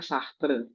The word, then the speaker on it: Sartre: Terakhir itu namanya itu Jean Paul Sartre ini tapi bacanya Sartre, Mbah Sartre. Ya ini nama ya namanya nama Prancis ya, Jean Paul Sartre.